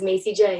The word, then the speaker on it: Macie Jae: we have a special guest for you today Macy J how you doing is that the correct pronunciation yes it is Macy J you got it it's a spelling that's going